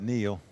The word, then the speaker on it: Nile: And Nile has queen nine, but Anony's at risk. We could be going heads up here if Nile can catch a queen or a nine. He said he pronounces it Neil.